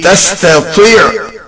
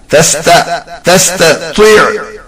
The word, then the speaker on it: تستطيع: Line number 3 has تستطيع عليه ta and ta. They are to be pronounced with same makhraj. So it will be تستطيع. تستطيع.